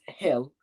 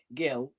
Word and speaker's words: Gil: Some people pronounce Hill or Gill. I would say Gill.